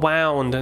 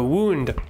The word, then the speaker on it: wound: นึกออกปะมันเป็นทั้ง verb แล้วก็ noun wound นะครับมันไม่ได้ออกเสียงว่า wound นะคือว่าบางที ou มันจะเป็น ow แต่คำเนี้ยมันคือ ou มันคือ wound ต่อไปนะครับ what's the matter